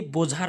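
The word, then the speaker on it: ب: দুই ঠোঁটের ভেজা অংশ রয়েছে এবং দুই ঠোঁটের ভেজা অংশ মিলিত করে এই বা হরফটি উচ্চারণ করবেন।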